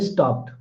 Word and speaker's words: stopped: So after voiceless sounds other than t, it is pronounced t, as in stopped.